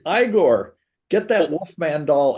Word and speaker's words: Igor: supposed to be Eigor, wasn't it? Yeah, exactly. It's Igor.